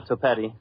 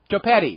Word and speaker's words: Topi: Uh, like spaghetti, brother. Topi. Topi.